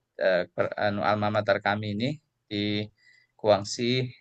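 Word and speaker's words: Guangxi: Nah, nomor 8 itu ee di ee anu almamatar kami ini di Kuangsi e ini bacanya Kuangsi Kuangsi Khata Universitas Kedokteran Guangsi.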